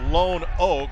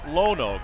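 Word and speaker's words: Lonoke: It's pronounced Lone Oak, but it's Lone Oak, L-O-N-O-K-E. One word, Lone Oak, Arkansas.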